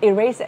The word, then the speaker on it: erase: Erase, nhớ là không đọc là erase hay là gì đó nha, nhấn âm 2 danger.